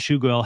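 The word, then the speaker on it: Tschugguel: At the beginning of the episode, he even asks if he pronounced Chuguel's name correctly. The whole thing gives off the vibe that Marshall and Chuguel have never met before this interview.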